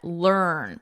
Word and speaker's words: learn: Here, you can think of it as a earn, more of a sound, or you can just think of the vowel is just not even there, and it's earn, learn.